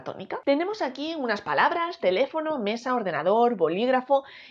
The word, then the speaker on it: teléfono: no son la tónica tenemos aquí unas palabras teléfono mesa ordenador bolígrafo y lápiz si dividimos las sílabas de estas palabras teléfono quedaría como te